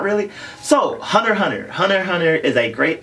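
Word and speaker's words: Hunter × Hunter: are saying it correctly it's hunter hunter not hunter x hunter all the x's are esthetic markers in the title it is not X pronounce that X this way X personal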